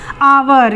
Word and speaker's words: hour: उच्चारण क्या करते थे, आवर। ये एच लिखा हुआ है तो इसका ये मतलब नहीं है कि हम इसे हावर पढ़ेंगे, हम इसे पढ़ेंगे आवर, HOUR आवर।